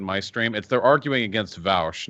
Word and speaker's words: Vaush: It's Vaush in English. That's always Vaush. That's how it's pronounced. Like 98% of the time.